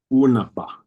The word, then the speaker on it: unaba: But that double B is pronounced fully. You close your lips completely. The air from your lungs comes to a complete stop until you release it. Unaba, unaba, unaba.